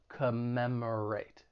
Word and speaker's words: commemorate: when pronouncing this verb it has four syllables the stress is on that second syllable commemorate commemorate and just keep in mind that first and third syllable have that schwa sound that unstressed vowel sound which sounds like commemorate commemorate and the next verb